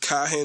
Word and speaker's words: Cahen: all these names but laura cohen it's laura and kahan is spelled c-a-h-e-n if you guys